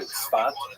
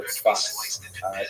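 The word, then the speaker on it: צפת: And that is the incredible explosion of spiritual and literary religious activity that occurred in the northern Israel city of Safed, pronounced in Hebrew Tzfat or Tzfat.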